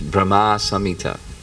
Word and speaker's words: Brahma Samhita: whole bunch more it's just that's pronunciation it's Brahma Samita okay let me see